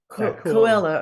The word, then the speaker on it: Coelho: I would love to shake Tony I cannot pronounce his name. Coelho. Coelho. Okay. Coelho.